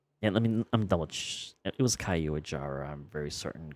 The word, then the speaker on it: Caiuajara: the Caiuajara. That's how it's pronounced.